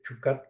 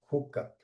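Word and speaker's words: Jukat: después pasa a jucatriat en chucat en inglés, pero que en español se pronuncia hucat, ¿verdad?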